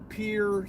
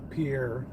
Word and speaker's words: Pierre: to going up to Pierre South Dakota I know I said it right most people call Pierre Pierre South Dakota I would of course